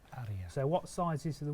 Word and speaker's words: Aria: Now, how do we pronounce this? Aria. Aria.